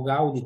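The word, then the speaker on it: Gaudí: Cioè, da Gaudì, da o Gaudi, come si pronuncia in spagnolo, a questa architetta famosa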